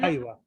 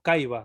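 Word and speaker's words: caiva: la C nunca se va a pronunciar como si fuera como caiba, sino que siempre se va a pronunciar Ah, como ya.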